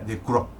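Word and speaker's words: Ducreux: autorretratos de joseph crowe de chrome ducrós se pronuncia de coro que esto es chusco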